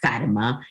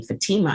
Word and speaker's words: Fatima: mom pronounce her name fatima i said okay we're done i'm now going to change my name to fatima instead of fatima because the stress isn't on the fat and so when i